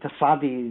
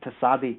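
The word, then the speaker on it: Tsadi: You know, say pizza, that's Tasadi, you get the Z. You'd use the Z even though it's not got a Z in it, Tasadi. Do you know what I'm saying? It's spelled T-S-A-D-I. But you would kind of use, like, say, a ziz, like you would say in pizza.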